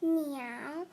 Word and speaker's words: 鳥: Bird pronounced meow.